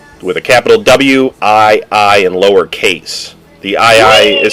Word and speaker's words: Wii: I mean, it's horrible because the it's Nintendo Y. No, Nintendo Wii. You got it's spelled W-I-I, but it's pronounced Wii.